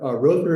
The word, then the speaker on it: Rother: Father Stanley Rother, or Rother, how do you pronounce his name? Rother, okay.